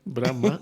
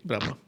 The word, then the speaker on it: Brahma: Lo pronuncio bien, Brahma, sin la N. Brahma, veis, algo fallaba.